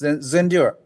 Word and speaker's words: Zendure: Is that the pronunciation, the proper one? Yes, Zendure.